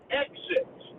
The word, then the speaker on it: exit: Exit. E-X-I-T. So many people say it wrong. They say exit with a G.